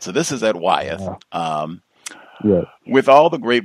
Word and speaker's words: Wyeth: At this company, Wyeth, I guess, W-Y-E-T-H. Is that how you say it? Wyeth. Yeah. Okay. Yes, that's how it's pronounced.